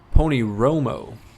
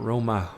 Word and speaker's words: Pony Romo: Pony Romo. I've been saying it wrong this whole time. Pony Romo. Not Roma. Romo.